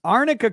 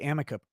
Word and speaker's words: arnica: vicious abusers ponton 21 it's arnica cream crazy cat lady lawyer pronounced it wrong the entire time yeah i know that's why we that's why we say amica cream is because she did it wrong makes it funnier uh